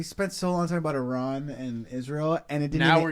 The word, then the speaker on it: Iran: Iran is actually the right way to pronounce, bro.